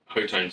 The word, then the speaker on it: Hotone: Hotone? Hotone sounds better, doesn't it? Because it reminds you of tone.